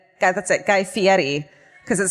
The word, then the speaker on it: Guy Fieri: pronunciation of his name the correct pronunciation is fairy but he says it's feti guy fieri guys that's it guy fieri because it sounds like